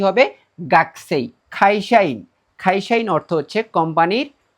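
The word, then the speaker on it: 学生: সো এই শব্দটার ক্ষেত্রে কু এর উচ্চারণটা কর্ম মত হবে। এটা একটু এক্সেপশনাল ব্যতিক্রম। এটা মাথায় রাখতে হবে। গাকুই না হয়ে কি হবে? গাসেই।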